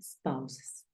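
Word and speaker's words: spouses: escriben los esposos entonces Recuerda que se pronuncia spes y significa esposos cuando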